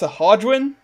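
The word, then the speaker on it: Sahuagin: I know that it's pronounced Sahagwin.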